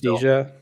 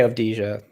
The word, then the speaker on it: Avdija: Avdija. Yeah. How do you say it? I say Avdija. Avdija. I just say it like it's spelled.